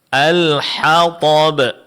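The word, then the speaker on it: الحطب: Alhathab.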